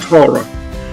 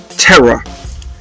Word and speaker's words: Tara: speech and text to speech pronounces it terror and i didn't realize until a few pages into the book that she's actually called tara and i was